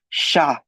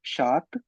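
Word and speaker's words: chat: It's not shat, it's not chart, it's sha, because the last vowel is a और हम last vowel तक pronounce करते हैं, and the sound of a in French is a, so sha, right?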